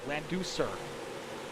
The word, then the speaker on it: Leducer: Jason White says the way to pronounce Leducer is Laducer. Is that not how I've been saying it? Leducer.